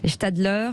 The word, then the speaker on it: Gstalder: commerçants des artisans aussi ce matin c'est bertrand stadler bonjour est ce que je prononce bien votre nom voilà vous êtes directeur